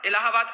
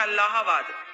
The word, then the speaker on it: अल्लाहाबाद: जो आप कहते हो इलाहाबाद का ओरिजिनल नाम है अल्लाहाबाद। स्पेलिंग पढ़ेंगे तो अल्लाहाबाद ही आएगा, ALL।